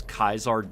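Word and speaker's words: Caesar: alone that they implemented it to have people pronounce kaisar differently oh true to kais and that being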